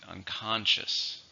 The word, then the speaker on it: unconscious: her and we have unconscious which just means not intentional not awake or not aware still an adjective as we see three syllable stress is on the second unconscious she was found unconscious